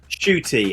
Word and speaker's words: Ncuti: That's how you pronounce it. Yes, Shooty, as in shoot, bang, bang.